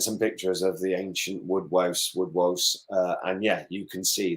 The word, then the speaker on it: woodwose: So you talk about woodwose, right?